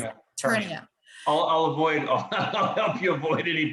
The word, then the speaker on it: Ternio: And the name of your company is, help me if I don't want to mispronounce it. Ternio. I'll help you avoid any possible. I've heard Torino, is it Gran Torino? That's Ternio.